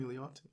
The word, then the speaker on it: Milioti: Kristen Milioti.